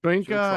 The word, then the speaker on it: Shoyinka: got quick edge rushers and Barrett and Joel Shoryinka. Is that I pronounce that correctly? Shoyinka.